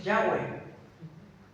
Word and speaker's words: Yahweh: se empezó a decir Yahweh, porque se lo juntan, si no recuerdo mal, con las vocales de la palabra Adonai que tenían en ese